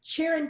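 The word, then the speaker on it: Çırağan: everyone to know that the G in Turkish is silent so one of the challenges I had when I was looking up the property even on Wed aways calm was they say cheerin Palace but there's a G in there so you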